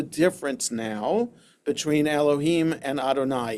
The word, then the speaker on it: Adonai: now between Elohim and Adonai. It's based on midrash that we understand that Elohim is the aspect of justice and y vave adoni pronounced adonai is the aspect of mercy.